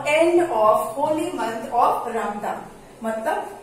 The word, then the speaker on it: Ramadan: Children, this is written Ramadan. In Urdu it is called Ramzan. Okay, in Urdu it is called Ramzan, but in English it is called Ramadan. RAMADAN, Ramadan. Okay, but if you say Ramzan, then also it is correct, Ramzan or Ramadan.